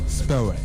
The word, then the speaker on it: Spurway: tu viens nous parler donc de la marque Spaway. C'est ça? Je prononce bien? Exactement. Spaway.